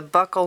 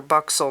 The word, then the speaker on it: buccal: part of the cheek the buccal nerve or buck so nerve whichever way you want to pronounce it affects the muscles of